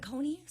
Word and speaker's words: Saucony: Is it Saucony? I was pronouncing it wrong. Yeah, Saucony.